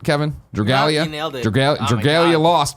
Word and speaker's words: Dragalia: Dragalia.